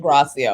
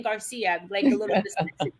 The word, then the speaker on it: Gracia: g right yeah that's gracia or dr g or whatever i have been i have been saying your name wrong the whole time thank you i've been saying garcia dr gracia thank you for that so